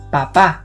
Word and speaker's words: papá: For father we use padre and papá. The mark over the vowel A is called tilde and helps us identify where the stress goes in a word. In this case we must pronounce papá, not papa, which actually means potato